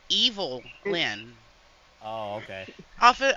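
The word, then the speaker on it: Evilyn: l-h l y n evilin hello hello no it's evil Lyn oh okay okay off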